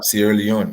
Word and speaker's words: Sierra Leone: That's how you pronounce it? Sierra Leone, right? Yeah, Sierra Leone.